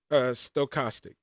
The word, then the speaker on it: stochastic: I would trip up over this and she'd say, Derek, think about the stove. I'm going to the stove. It's stochastic.